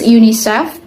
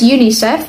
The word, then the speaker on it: UNICEF: individual letters for instance UNICEF is pronounced as UNICEF not u n i c e f acronians are commonly used